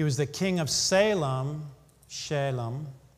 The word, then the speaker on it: Salem: the king of salem shalom is how it would be pronounced which is equivalent to the hebrew word shalom which means peace king